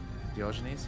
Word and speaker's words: Diogenes: Diogenes, yeah.